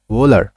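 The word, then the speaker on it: Wöhler: স্লাইডে যাই দেখো এরপর আসে ফেডেরিক ওলার দেখো উচ্চারণটা কি ওলার ও না আবার ভৌনা মাঝখানের একটা ফেডেরিক ওলার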